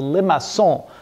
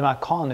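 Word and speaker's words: Limaçon: Now we're going to try what we call the Limacon. Well, that's the French way of pronouncing the name. I think we can call it Limacon if you like it.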